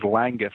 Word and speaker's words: Langguth: It is Langguth, sir.